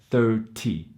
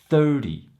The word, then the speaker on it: thirty: using for an example it's the T Y sound at the end which should sound like thirty thirty but if you